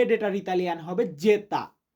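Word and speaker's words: zeta: এক্স মানে এক্স আর ওয়াই ওয়াই কে Italian ভাষাতে বা ইতালিয়ান বর্ণমালাতে আমরা উচ্চারণ করি ইপসিলন ইপসিলন যে ডেটার ইতালিয়ান হবে যেতা তো যারা সম্পূর্ণ ভিডিওটা দেখেছেন তাদেরকে এখন আমি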